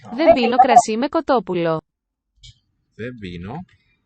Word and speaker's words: δεν πίνω: Vebino. So again, the N and the P, voiceless, they fuse into a B.